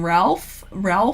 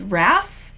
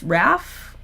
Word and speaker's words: Ralph: casting, I was saying Ralph Fiennes, and people told me that it's Raph. Is it Raph Fiennes? They cast that guy. I've been told that the L is silent. It's Raph Fiennes.